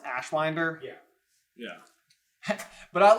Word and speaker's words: Ashwinder: Is it pronounced Ashwinder?